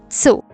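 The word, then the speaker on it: つ: O tu não é tu, é tsu.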